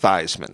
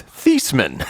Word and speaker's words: Theismann: last name isn't pronounced theisman it's thiesman it's pronounced like t-h-e-e-s so it's like thiesman